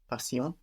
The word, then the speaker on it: patient: patient be in French the ti of patient that sounds sh in English here it sounds like an s in French TI sounds like SI there so how would that be patient passion which sounds very much